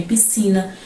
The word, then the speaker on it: piscina: E também temos que lembrar que o S muitas vezes em algumas palavras não vai ser pronunciado, tá bom? Como em piscina, descer, a palavra cresçam, floresçam, por exemplo, tem S, C, mas dificilmente pronunciamos o S nessas palavras.